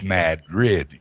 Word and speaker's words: Madrid: Everybody tries to say Madrid, but it's Mad Grid. We get mad at you, we got rid of you.